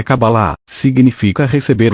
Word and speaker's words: Kabbalah: palavra cabala em e cuja pronúncia mais próxima do original é kabbalah significa a receber o